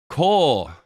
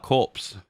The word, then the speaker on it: Corps: The Officer Corps. That's right, I was saying it right. I used to call that corpse.